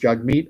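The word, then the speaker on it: Jagmeet: wants to be called if his name is pronounced jug meat I want to pronounce it the way he wants it pronounced it's like when people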